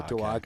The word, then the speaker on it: Duwage: Doesn't No, I think most of the Sri Lankan names, they have a hard G on the end. Those are good. Like Marage and those kind of things. So Duwage.